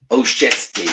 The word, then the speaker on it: Olszewski: Is it Olszewski? Olszewski, isn't it? Oh, Chesty, right? Okay, thank you.